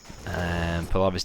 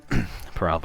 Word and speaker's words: Peralva: Palava's definitely pulling it back. If I'm even saying that right, by the way, the name Peralva. Peralva. I've been saying his name wrong the whole time, but no worries.